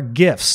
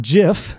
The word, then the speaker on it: GIF: well next up are gifts now before we get into a gift I do want to mention it is pronounced gif not jiff jiff is a peanut butter it stands for graphics